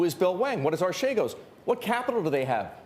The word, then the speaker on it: Archegos: If we had seen again on an HCS search that Archegos Capital, or however we want to pronounce it, in fact, A Greek colleague of ours told me yesterday it should be Archegos.